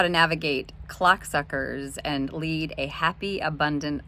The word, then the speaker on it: clocksuckers: book, How to Navigate Clocksuckers and Lead a Happy, Abundant Life. Yes, I did say clocksuckers, and there is an L in clocksuckers, so please don't mispronounce it and get me in trouble with HR leadership.